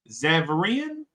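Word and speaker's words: Xaverian: shout out to uh how's how do you pronounce the Xavier exam xavarian exactly set up one more time Xavier okay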